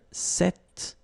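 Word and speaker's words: cette: it's quite interesting because if you listen carefully the masculine form here set and The Feminine form here set you write them differently but then you pronounce them the same way all right for the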